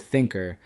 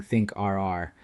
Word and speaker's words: Thinkrr: You may notice I wrote Thinker spelled out differently than our company name. This is a trick to ensure the AI pronounces the name properly instead of saying Think R.